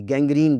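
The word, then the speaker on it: gangrene: जी, गैंग्रीन बीमारी का नाम है जी, गैंग्रीन गाफ के साथ है, दोनों जी गाफ की आवाज़ देंगे।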